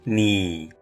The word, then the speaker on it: 你: The rationale behind this choice stems from the fact that the pinyin for you is ni, which bears a resemblance to the sound of a needle.